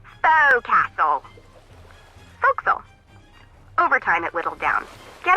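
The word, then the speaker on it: forecastle: ship but it's pronounced focusum why is that try pronouncing it like an English sailor with no formal education faux Castle overtime at whittled down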